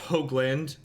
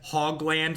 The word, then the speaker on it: Hoagland: dive down didn't matter my last name is pronounced Hoagland when I'm when I'm making fun of myself as a parody I call myself Hoglund because people often incorrectly mispronounce my name as hog land like a hog like a pig oink oink prefer hoot